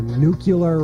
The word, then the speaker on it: nuclear: use a realtor when you go buy a nuclear reactor well it's realtor and it's nuclear pronounce the words properly says Charles Harrington ster